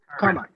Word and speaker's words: Carmine: Carmine.